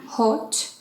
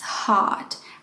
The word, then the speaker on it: hot: for example my goodness for example hot it's not hot it's hot with a long ah so think about it